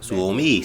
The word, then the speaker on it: Suomi: Suomi.